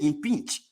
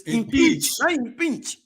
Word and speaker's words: impeach: the election Commissioners yes let me correct the world because I want Brothers out there pronouncing it in pinch there's nothing like impinge they want a spell I am p-e-a-c-h is impeached yes so I hope I